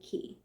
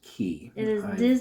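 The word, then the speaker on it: Cay: And so the next day we woke up and Castaway Key that is it's spelled C A Y though, but I don't know. Anyway, it's pronounced keys.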